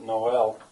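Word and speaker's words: Noël: Cornwall it's Cornish uh Noel is a French word for Christmas it's spelled Sometimes some times like this with a mark over it to show that it's not n but Noel um but anyway uh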